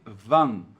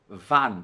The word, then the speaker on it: wann: No alemão aqui é a, não é an, como a gente tem a tendência de fazer no português. Então cuidado para não dizer van, mas sim van. Van van. Ok? Essa é a pronúncia correta.